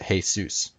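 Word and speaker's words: Jesús: Jesus means hail Zeus because in Spanish you pronounce that hey Zeus but if that's the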